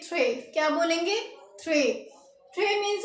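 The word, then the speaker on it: très: ई एस ओ यू तो टी आर ई एस अगर हमने ई प लगाया तो इसको बोलेंगे थ्रे क्या बोलेंगे थ्रे थ्र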